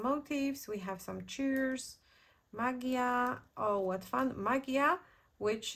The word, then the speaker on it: magia: I would say in in Spanish you pronounce it a little bit differently but in Polish it's magia so uh if it's